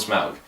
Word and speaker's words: Smaug: Let's just call him Smaug, because that's how they pronounce it in the movie.